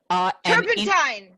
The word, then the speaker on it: turpentine: It rhymes with Gertrude Stein. Turpentine.